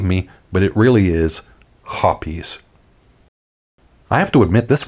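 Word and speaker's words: Hoppe's: cologne made of hops well no actually it's hoppies call the company if you don't believe me but it really is hoppies I have to admit this one actually came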